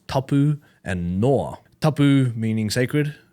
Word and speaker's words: tapu: the rules, and it's tapu and noa. Tapu meaning sacred. Tapu is actually, or the variance of tapu is actually the origin of the English word taboo. Okay. Was a mispronunciation of it, which is now we